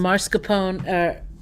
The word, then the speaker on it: mascarpone: And then Andy brought up some mascarpone. Brought up mascarpone. Mascarpone. It said 3 syllables, so.